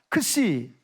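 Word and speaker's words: Χ: 저게는 헬라어로 크시라고 그래요. 따라합시다. 크시. 저거는 X가 아니고 크시라고 읽어요. 왜?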